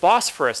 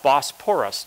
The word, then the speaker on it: Bosphorus: Now, when I first looked at this, I said Bosphorus. Did he misspell that? Because I thought Bosporus, just with a P.